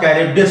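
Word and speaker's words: Charybdis: इसका प्रोनाउंसिएशन थोड़ा सा ध्यान रखिएगा, सीला पढ़ते हैं और कैरिब्डिस पढ़ते हैं।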